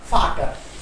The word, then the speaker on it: Vater: या बट we have to practice that फै sound. That's why I have taken फाटर. एक बार लिख लीजिए सर. फाटर क्या है? Spelling FAT. या दिस वन.